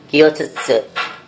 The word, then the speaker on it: 教室: Kyutsu adalah ruang kelas. Cukup sulit ya mengucapkan kyutsu. Kyutsu.